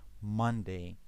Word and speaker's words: Monday: The stress is on the first syllable, Monday.